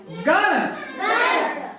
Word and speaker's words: गण: जो ये जो है ण क्या है ण तो हल्का उसम नाक से निकलती है ण ण ण नहीं हम अगर ड़ बोलेंगे तो ये वाला ड़ आ जाएगा है ना ड़ इसम अ हल्का सा नाक से उचा निकलता है स्का में तो गण